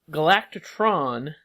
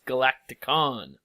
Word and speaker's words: Galacticon: So, but Galactatron, I'm saying it wrong. It's Galacticon. It is GALAKTIKON. Galacticon. Galacticon. That KON totally threw me. I was not going to guess that.